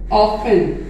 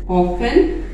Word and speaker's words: often: ऑफन, OFTEN, ऑफन, अक्सर, इसका मतलब है अक्सर, इसमें टी साइलेंट।